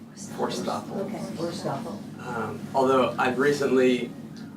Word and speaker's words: Forsthoefel: Tell us how to pronounce it. I'm getting there, just arriving. It's Forsthoefel. Forsthoefel.